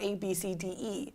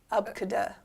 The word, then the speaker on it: ABCDE: Apparently, it's not ABCDE. Take a wild guess what it could be. 1, 2, 3. Abkada.